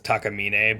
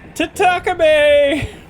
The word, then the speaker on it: Takamine: Because it's Takamine, but she's like, Tatakame! Oh.